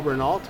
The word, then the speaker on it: Renault: the renault uh emblem what some of us would call renault yes yes sorry in france they say renault they pronounce it correctly yeah so these are